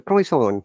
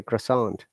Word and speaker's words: croissant: France people say croissant with a through nose, but we don't use nose. Generally say croissant.